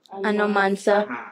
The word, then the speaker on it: Anomansa: Yeah, and I want us to pronounce it Anomansa. Anomansa. It's a Ghanaian word.